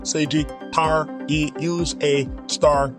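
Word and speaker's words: Sagittarius A*: of our galaxy known as Sagittarius pronounced Sagittarius pronounced seiji tar e use a star during the Monumental flare that transpired in 2013.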